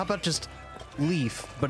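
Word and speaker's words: Liif: How about just leaf, but it's instead of being spelled with an E and an A, it's L-I-I-F. Leaf. Ooh. Or Lift? no, it's leaf because there's two I's.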